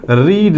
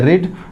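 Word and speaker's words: read: डिड नॉट, और फिर रीड बोलेंगे, ही डिड नॉट रीड a book. ये ध्यान देखना आप, यहाँ पे भी स्पेलिंग सेम है, बट जब डिड है तो बोलेंगे रीड, डिड नहीं है तो बोलेंगे रेड।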